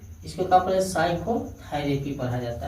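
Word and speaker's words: psychotherapy: इसे देखिए पी यस से पहले आया है हाई पी, साइकोलॉजी पढ़ा जाता है, इसे साइकोलॉजी। यस से पहले आया पी, इसको क्या पढ़े साइकोथेरेपी पढ़ा जाता है।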